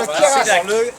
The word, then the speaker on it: Queyras: On va dans le Keras. À Seyac. Seyac. On va à Seyac combien de temps? Le Kera, on ne prononce pas le S.